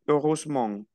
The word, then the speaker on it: heureusement: Oui, heureusement. Esta E no se pronuncia.